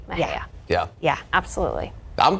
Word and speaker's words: Mexia: Is it Mexia or is it Mejia? B. It is B, Mejia.